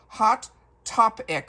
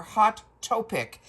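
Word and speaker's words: Hot Taupic: It is called Hot Topic or Hot Topic. It's spelled Taupic, and this is the eyeshadow palette.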